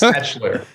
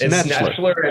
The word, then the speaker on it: Schnetzler: Help me pronounce your last name. It's Schnetzler? Yes, you got me mispronounced my last name. It's Schnetzler. It's Schnetzler, and in the middle